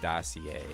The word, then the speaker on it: dossier: Dossier is pronounced dossier.